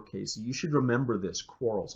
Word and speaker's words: Quarles: You should remember this, Quarles, almost like to quarrel, right?